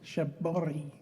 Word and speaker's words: shibori: Shaboti. Shabori. Shabor. I can't you don't in Japanese. You don't really say an R, so it sounds more like a D.